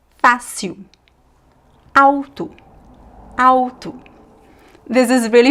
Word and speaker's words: fácil: Uh but at the end of syllables, attention. The l is pronounced as a u.